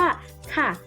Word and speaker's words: ค่ะ: ไร คำ แรก คือ คำ ว่า ค่ะ ข้อ ควาย สระ อะ ไม้ เอก ออก เสียง ว่า ค่ะ เด็ก ๆ ลอง ออก